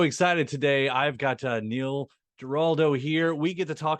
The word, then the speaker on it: Giraldo: A lot of Oh, people forget the R. I don't know why they Gerardo.